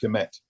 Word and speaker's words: Kemet: Those three strokes would not be pronounced. Right. Right. So it's just Kemet.